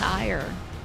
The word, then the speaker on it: Aegir: Thank God it's Ferdinand von Ayer. I'm sad his name isn't pronounced Aegir. But I understand why. It's just not how his name works.